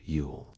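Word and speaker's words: Yule: Long before Christmas invaded December, the Norse celebrated, pronounced Ule, and dedicated to gods like Odin and Thor, it marked the winter solstice.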